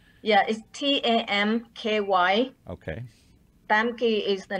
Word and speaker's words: Tam Ky: were actually are part of an organization called thumb key project it's thumb keys Vietnamese pronunciation but but I want to let Maggie